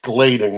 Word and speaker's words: Gladin: Actually, we pronounce my name Glading with a long A, but I usually don't correct it.